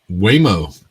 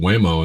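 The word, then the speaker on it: Waymo: And Whimo, that rhymes with lameo.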